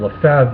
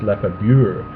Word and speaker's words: Lefebvre: Lefebvre, and he says in the written form the B and the V are included, but the B should be silent. But because people don't make that distinction in written form, they see it and they pronounce the B, and Lefebvre then is changed and it's mispronounced as Lefebvre.